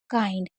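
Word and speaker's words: kind: जैसे high, might, काइंड, आई एन डी होगा तब भी आई को आई पढ़ेंगे, जैसे काइंड में पढ़ रहे हैं।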